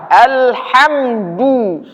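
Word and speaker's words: الحمد: ha ha ha ha perhatikan ke mulut saya ha ha yang sering orang kurang tepat membacanya dia menjadi ha besar ha ha Alha Alha Alha Al Alha Alha itu salah yang benar Alha Alha Alha Alha alhamdu alhamdu alhamdu alhamdu Kebanyakan orang membaca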